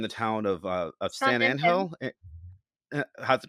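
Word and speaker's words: San Ángel: town of uh of San anel how's it pronounced s anel s Andel wow look at you with the very official Hispanic Mexican you make a weird H like sound in Spanish and the three children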